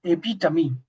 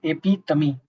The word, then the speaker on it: epitome: AP tummy. The right the right pronunciation of this word is AP tummy.